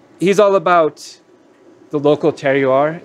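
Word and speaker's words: terroir: all about the local tear you are is how you say that word the the flavor of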